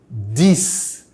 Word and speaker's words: dix: The X will be pronounced as a double S, but will be pronounced as a Z if there is a liaison with a word starting with a vowel.